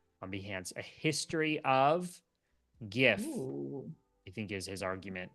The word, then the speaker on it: GIF: in the chat on behance a history of GIF I think is his argument because the the